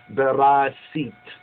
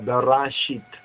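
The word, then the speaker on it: Bereshit: He is called the Hatana Berasit, or Berashit, as they pronounce it. We pronounce it Berasit, which is the bridegroom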